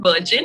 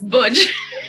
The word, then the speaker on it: Burgeon: But yes, it's a nice name, but sometimes I do have my little bit of embarrassing moment that no, it's not Virgin, it's Burgeon.